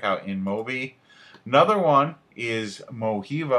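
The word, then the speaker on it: Mojiva: Another one is Moiva, I believe is how you pronounce it. It's M OJ IVA.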